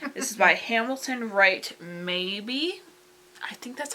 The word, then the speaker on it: Mabie: Maybe. I think that's how you say his last name. His last name is spelled M A B I E. So I think it's called maybe.